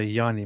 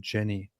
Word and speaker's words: Jani: Ich heiße Janina mit J, aber hier man sagt Janina oder Jani mit J, nicht Jani oder Jenny.